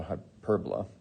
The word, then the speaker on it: hyperbola: called a i mean literally it's spelled like hyperbola but it's um it's called a hyperbola and they kind of